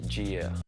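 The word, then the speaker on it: Jeah: It's spelled J-E-A-H. If you say it like how it's spelled, it's Gia.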